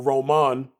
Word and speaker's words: Roman: So Mr. Roman, or Roman, to pronounce it the Spanish way, learned his lesson very quickly.